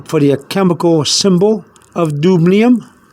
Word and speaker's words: dubnium: But in this case, we don't have to do that, because all we're trying to do is trying to remember the dubnium.